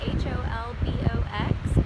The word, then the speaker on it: Holbox: short video for you about the island of Holbox, spelled H-O-L-B-O-X, but in Spanish they pronounce it Holbox.